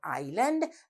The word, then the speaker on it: island: But when we pronounce the word island, we do not sound that letter S.